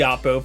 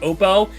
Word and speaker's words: Oppo: I think it is technically pronounced Oppo, although every single tech reviewer calls it Oppo. I did for the longest time until I heard OnePlus CEO himself call it Oppo.